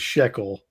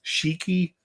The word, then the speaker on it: Shiki: I think I call her say her last name is Shekel, but I think she says it's Shiki is how you say it.